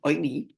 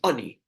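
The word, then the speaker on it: עני: It's pronounced oini with a cholam, but it's spelled without a vav, which is ayin nun yud, which could be pronounced as ani, poor person, although it's not pronounced lechem ani.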